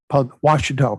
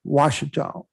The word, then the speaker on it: Ouachita: I was in Camden, Washita County, excuse me.